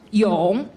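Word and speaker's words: 永: of the fundamental strokes this captor is pronounced Yong in Chinese in Chinese meaning forever so I hope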